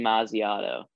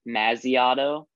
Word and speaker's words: Masiato: Pronounce for everyone in the world that's listening on this podcast the proper pronunciation of Anthony's last name. Anthony Masiato. Right. I just said that like as if I was like calling his name or something. I know some people say Masiato.